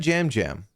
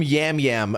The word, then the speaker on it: Yam Yam: He said jam jam. Although a lot of people, even like people I've seen in the just on TikTok and stuff call him Yam Yam.